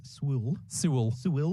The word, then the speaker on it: Sewell: Thomas Sewell.